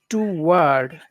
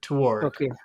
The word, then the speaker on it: toward: be a good idea No it should be one word toward toward and it's it's those are the two those are the vowel sounds toward toward yeah okay okay yeah it's not to it's not to word it's toward toward okay to word a